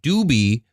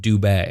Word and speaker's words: Dubé: last name's Dube like it looks like doobie but it's pronounced Dube okay and and so